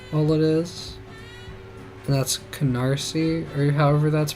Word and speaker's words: Canarsie: And that's Canarsie, or however that's pronounced. Not, I was reading it with the I before the S. I was saying Canaries or something, in my head, at least.